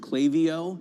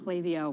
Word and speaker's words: Klaviyo: I believe, by the way, it's pronounced Klaviyo. Klaviyo.